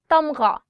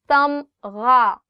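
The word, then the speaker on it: تمغہ: Tamgha, gha. The sound of gha, or the alphabet ghain, is always coming from here. So try it from here. Tamgha.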